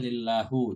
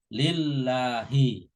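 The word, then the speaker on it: لله: Allah itu berharokatnya kasrah ya lillahi nggak boleh lillahu jadi harus kasrah lillahi kemudian yang selanjutnya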